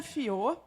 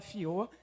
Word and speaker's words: Fiaux: Bom, meu nome é Fiot, se escreve Fiaux, mas se fala Fiot.